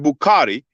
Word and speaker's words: Bukhari: about sahih bukhari um you will pronounce it bukhari b-u-k-h-a-r-i that's considered the most